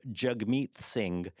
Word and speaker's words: Jagmeet Singh: So Jagmeet Singh. So Jagmeet with a soft T and Singh with like a kind of throat sound.